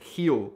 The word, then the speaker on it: Rio: Brazil obviously you guys do not pronounce it real you pronounce it heel now that took such a long time the